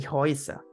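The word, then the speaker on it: Häuser: muy característico que es la e con la u que se pronuncia como una oi entonces Claro si nosotros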